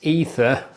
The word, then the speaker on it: AETHER: Got a very nice looking set of darts here from Datadart, and I think it's pronounced Ether, but you'll correct me if I'm wrong.